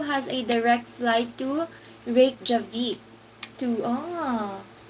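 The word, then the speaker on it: Reykjavík: So Funny and Insightful said that this is how you pronounce it. Reykjavik.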